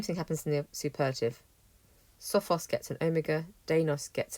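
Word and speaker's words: σοφός: standard adjectives you have sophos and denos nice straightforward first and second declension adjectives in the comparative these change slightly so sophos has a short o it now gets a long or dinos has a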